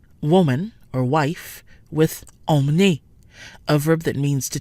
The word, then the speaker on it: emmener: Emmener, on the other hand, has 3 syllables. EM, ME, NER. EM is alone in its own syllable and therefore remains nasal. En.